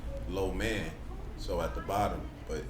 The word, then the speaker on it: lo mein: So it's a reflection of just the idea of, even if you pronounce lo mein in Mandarin, it's low man.